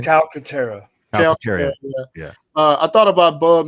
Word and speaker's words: Calcaterra: Can somebody pronounce this last name, Jordan? You got me. What is his name? Calcaterra.